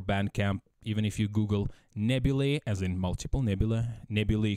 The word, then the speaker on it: Nebulae: You can search Nebula, that is spelled as Nebula, but with E in the end. So Nebulae, as in multiple nebulae.